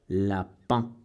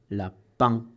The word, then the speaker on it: lapin: Lapin, lapin. Pas lapin, no es lapin, lapin.